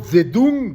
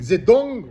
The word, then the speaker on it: Zedong: été à son époque, comme Siderta, comme Mao Zedung, Zedong, pardonnez-moi pour la prononciation, comme Trump, comme les philosophes, les historiens,